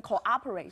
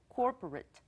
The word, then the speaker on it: corporate: 但是呢常常同学会拿这两个字来问我跟 cooperate 说这两个是一样的吗、So can we spell that please? Sure.、Corporate, C-O-R, just one O. That's C-O-R-P-O-R-A-T-E.、corporate, not cooperate.不一样。 Thank you very much. 好，所以同学看到以后，公司或企业这个字，就是刚刚的 Bruce 老师后面拼的这一个 corporate，而且呢，没有中间的短线的可能。